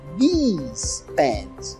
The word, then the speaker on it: these: Se eu tiver duas, eu vou falar these pants. Então, a pronúncia desse i é mais prolongada.